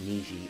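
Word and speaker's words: 虹: And the same kanji is pronounced niji and two is pronounced.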